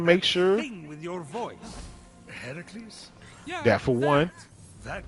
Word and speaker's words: Heracles: Heracles? Yeah, that for one, That is how it's supposed to be pronounced.